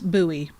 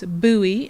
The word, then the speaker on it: Bowie: in bowie mom because bowie let me pronounce that correctly it's buoy and it's in montague